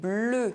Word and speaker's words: bleu: end of a word Le feu The fire Bleu Blue EU is pronounced [ø] if followed by a silent consonant